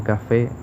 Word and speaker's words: café: en la sílaba on, o en café, cuya intensidad o fuerza recae en la sílaba fe, o en amor, que